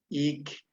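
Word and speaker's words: ik': Este es ik. Es más suave. No debe sonar k.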